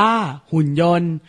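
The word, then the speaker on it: หุ่นยนต์: คำ นี้ อ่าน ว่า หุ่น ยนต์ ไม่ ออก เสียง ต เต่า กับ การัน และ คำ นี้ ที่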